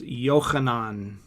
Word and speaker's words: Yohanan: And just to just to know the the name is pronounced Yohanan. Mhm. Rab Rabbi Yohanan.